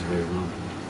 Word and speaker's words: Rama: But, you know, I think the preferred thing is Hare Rama. And that's the original Sanskrit. And the Ma is pronounced in Sanskrit. In the other languages, the Ma may not be pronounced Hindi or, you know.